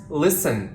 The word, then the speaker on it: listen: certain combinations in which the letter T is definitely silent for example s t n like in the words listen and fussen listen wolf